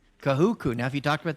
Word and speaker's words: Kahuku: Kahuku. Kahuku.